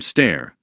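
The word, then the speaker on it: Steyr: We'll get hands-on with some cuttingedge bullpups from Stair that's pronounced, by the way, and IWI.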